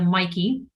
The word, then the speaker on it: Maaike: what people ask me like how do I pronounce your name um this is a Mikey that is the easiest to remember I would